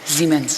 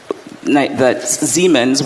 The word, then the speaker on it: Siemens: Is it pronounced Siemens or Siemens? Siemens.